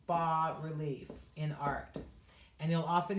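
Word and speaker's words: bas-relief: there's low relief and that is called ba but it's spelled bas so you'll often see so low relief is called ba relief in art and you'll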